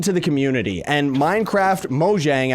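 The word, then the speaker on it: Mojang: the community and Minecraft moang I guess I should say or moyang I think that's how it's pronounced but either way I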